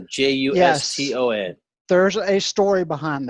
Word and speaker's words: Juston: Juston, you spell your name with an O, Juston. Yes. There's a story behind that. It's pronounced like Justin, but Right.